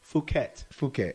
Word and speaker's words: Phuket: Is it Phuket? Phuket.